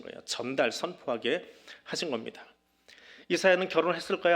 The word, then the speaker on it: 이사야: 안 띄워두세요 저자는 누구예요 이사야 히브리어는 이사야후를 줄여서 이사야라고 합니다 영어로는 아이자야 그렇게 발음을 하는데 여호와께서 구원하신다 그런 이름